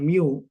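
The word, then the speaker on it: μ: Kemudian yang nomor dua ini simbolnya membacanya mu ya.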